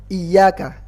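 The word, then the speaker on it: إِيَّاكَ: pertama yang pertama iya Iyakah tasydid di huruf ya Iya ingat ini tasydid ya bukan map bukan panjang karena beberapa anak Hai error bacanya gini Iya iya deviyana ini ini kurang kurang pas Kenapa karena seolah-olah hamzahnya ada empatnya seolah hamzahnya dibaca panjang padahal hamsternya dibaca pendek cuman iyanya ada tasydidnya jadi iya kah ingat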